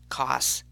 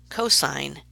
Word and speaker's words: cosine: si n cos and 10 please do not pronounce them as sin cost and 10 that's the quickest way to drive a maths teacher crazy they are sine cosine and tangent yes so in the diagram below